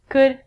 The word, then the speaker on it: could: pronunciation on ink vidcom all of these ELLs are silent so it sounds like should could and the thing that